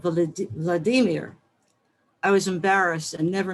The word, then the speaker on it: Vladimir: to some school assignment he corrected my pronunciation not vladimir but vladimir i was embarrassed and